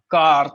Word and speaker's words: quart: suggest you to you know go for that car thing c q u a r t car